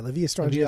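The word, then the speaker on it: La Villa Strangiato: Is that how you say it? Yeah, La Via Strangiato.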